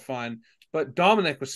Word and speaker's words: Domenic: It's Italian vowels. Okay. Domenic. It's because my name is supposed to be Domenico.